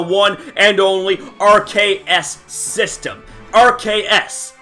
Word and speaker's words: RKS: RKS. Arceus. Notice the similarities in pronunciation here, and what RKS